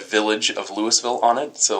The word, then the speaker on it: Louisville: south are called Louisville but people in Louis Ville Nebraska get pretty mad when you call it Louisville this is silly there are other syllables in there right right okay so Lewisville Lewisville right uh what